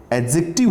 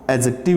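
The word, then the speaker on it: adjective: ये डे जो है साइलेंट होता है, एडजेक्टिव, ध्यान रखेंगे इसको, एडजेक्टिव इसको बोलते हैं।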